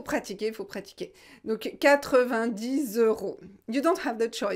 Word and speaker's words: euros: pour vous en général c'est difficile de prononcer euros en plus il y à la liaison 90's euros the row euros c'est très très fermé euros il ya le